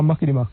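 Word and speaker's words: mucky-muck: How do you say it again? Uh mucky muck. Mucky muk. Better.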